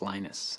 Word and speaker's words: Linus: speak finnish it's linos when i speak english it's linus and i really don't